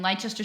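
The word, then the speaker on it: Leicester: 30 minutes okay and Lester City that's just a city in England yeah Lester okay oh you don't pronounce that c silent no yeah I know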